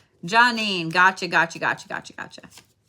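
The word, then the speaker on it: Geanine: there you are love is it Janine and I was saying it wrong earlier johnine gotcha gotcha gotcha gotcha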